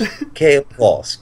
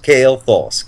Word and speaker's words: Kael'thas: But don't pronounce his name wrong or he'll flay you. Okay? I'll say it again. Three times. Remember this. Kael'thas. Kael'thas. Kael'thas. Kael'thas.